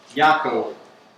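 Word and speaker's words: Yaakov: yako James chapter 4 how do you say James yakob as in Jacob as in Jacob y really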